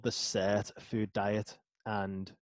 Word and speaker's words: Sirtfood: is something called the set a food diet and in my accent that might sound like a totally different words I'm gonna spell it out for you literally it's s ir t dude diet okay and so what